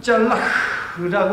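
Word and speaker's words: צלח: 이 단어는 짤라흐라고 하는 단어입니다. 짤라흐. 따라해 볼게요. 짤라흐. 맨 마지막에 흐라고 하는 발음인데요. 짤라흐.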